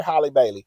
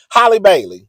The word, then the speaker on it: Halle Bailey: Holly, yeah, Holly Berry, Holly Bailey, Holly Bailey. That's her name because I always got to say Holly Berry's name for me to know how to remember how to pronounce the Little Mermaid's name.